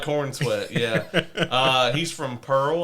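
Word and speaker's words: Corenswet: know uh uh David Corin Swit I guess that's how you pronounce it corn sweat corn sweat it sounds like corn sweat yeah uh he's from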